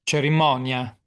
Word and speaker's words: cerimonia: How do you say it in Italian, Marco? Ceremonia. Yes, cerimonia.